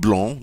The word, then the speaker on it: blond: as we do with blong, notice I don't pronounce the d in the masculine.